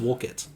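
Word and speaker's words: Woollcott: excuse me alexander woolcott i think it's pronounced wulkit wulkit all right so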